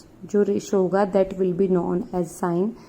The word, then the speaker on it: sine: Then short form of sine is E. We will not write, we will directly write SIN. It is not sin, it will be pronounced as sine because sine is the full form.